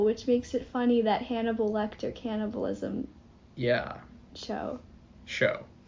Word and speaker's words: Hannibal: the roman history class name rhymes with cannibal which makes it funny that hannibal lecter cannibalism yeah show